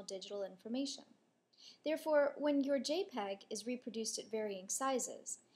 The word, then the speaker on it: JPEG: you've probably heard of a dot jpg pronounced jpeg it stands for joint